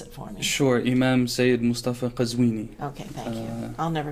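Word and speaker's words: Sayed Moustafa Qazwini: Oh, first of all, pronounce it for me. Sure. Imam Saeed Mustafa Qazwini.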